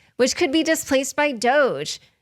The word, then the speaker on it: Doge: He added, "Bitcoin could be displaced by Ether, which could be displaced by Doge," although I think he pronounced it Dodge, "which could be displaced by Hamster Coin."